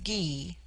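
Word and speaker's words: Gy: The word for woman is gee pronounced hard as in guy.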